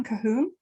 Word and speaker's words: Cahoon: joining us today people we're here with cahoon am i pronouncing your surname correct it is yes perfect